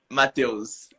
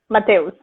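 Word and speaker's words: Mateus: you pronounce your name so in brazil people call me matthios pronounced mateos matteos yeah perfect that's oh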